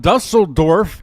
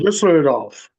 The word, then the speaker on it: Düsseldorf: Arriving home is with me from Dusseldorf. That's probably probably not saying it right. You got it, It's Tom. Düsseldorf.